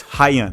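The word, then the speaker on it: Rayan: Player number three is Haya from Vasco Dagama. Okay, so Haya, or maybe if you read it in English, it almost looks like Ryan, but it's Haya.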